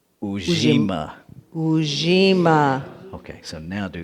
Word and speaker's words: Ujima: Okay, first, the pronunciation is Ujima.